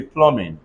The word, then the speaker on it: plumbing: plum I had ercc plumber p-l-u-m-v-i-n-g everybody say Plumbing if I have t-o-m-b pronounce it soon one more time if I